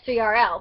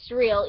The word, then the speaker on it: S3RL: by djs3rl so yeah i know that's not the correct pronunciation of his dj name but i say s3rl because i'm not going to say surreal even though like like because i don't really know how like how otherwise to pronounce it besides srl or surreal and i don't really